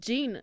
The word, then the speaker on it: Jean: Alors ça se prononce Jane pour les femmes, mais Cimer quoi.